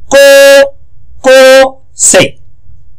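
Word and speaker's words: 高校生: ওকে, next কো আর উ, কো কো, এখানে একটা grammar আছে, যেন কো উ থাকে, উটাকে বলে লং ভাওয়েল, এই উটা হচ্ছে লং ভাওয়েল বলে, এই উটা মানে টানা উচ্চারণ। কো কো সে, কো কো সে, কো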